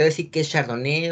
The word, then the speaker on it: Chardonnay: La pronunciación es Chardonnay, que está en francés.